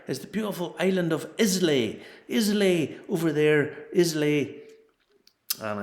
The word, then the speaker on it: Islay: Islay is how it's spelled, or spelt, whatever way you want to put it. And it's pronounced Islay.